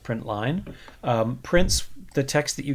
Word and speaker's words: println: print so print line println which is pronounced print line prints the text that